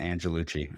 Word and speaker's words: Angelucci: Did I pronounce that Sure. correctly? Right. Angelucci? Angelucci.